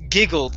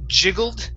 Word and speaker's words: giggled: The word is pronounced giggled instead of jiggled. It's giggled.